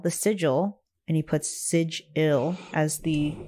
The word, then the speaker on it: sigil: pop magic style the sigil and he puts Siege ill as the pronunciation is the first and one of the